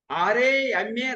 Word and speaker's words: Rama: Of course, Patanjali Yoga Peeth, they write Y-O-G, but the pronunciation is Yog. R-A-M-A Ram.